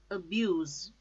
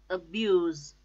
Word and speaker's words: abuse: two syllables ah now this sound uh is a very feeble sound phonetically we call it schwa sound it is a very low ah sound and whenever you have this low sound or schwa the stress is not given on the sound because the moment you